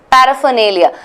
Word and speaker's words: paraphernalia: nail again has a bubble there Lea right paraphernalia so anything that does not have nay Lea paraphernalia pronunciation this is a good example of a